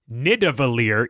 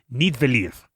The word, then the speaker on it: Nidavellir: And he really, really convicted me because he said it's not Nidavellir, it's Nidavellir. More or less.